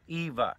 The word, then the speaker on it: Iwa: bang you know and it was called hurricane Eva spelled IWA II WA but pronounced hurricane Eva and and we hunkered down